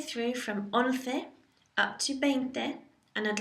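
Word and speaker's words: veinte: And then finally you have 20, which is just 20, 20, 20. It's spelt with a V, but pronounced as a soft B.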